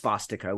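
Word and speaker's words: svastika: it's it's actually pronounced spastico with a v um and it's and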